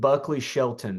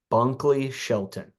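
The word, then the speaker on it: Bunkley-Shelton: because I don't know okay he is LV Buckley Shelton sorry I said his last name wrong LV Bunkley Shelton transfer from Oklahoma he's a fifth year uh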